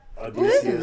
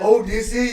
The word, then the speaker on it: Odysseus: I'm Come ready on, for it was like Odysseus. Odysseus. That shit was hard as fuck. No, like, no. I didn't know what they were saying at first because they say it like O-E-A-U, O-E-A-U. Like, I didn't know they were saying Odysseus.